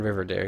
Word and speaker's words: Rivendare: second death thr version with like with Baron rivendare whatever you say that Baron River dare you said it right yeah so honestly I